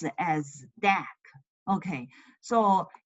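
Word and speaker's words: deque: assignment okay so this is called dck so pronounce it as dck okay so it's double ended CU double ended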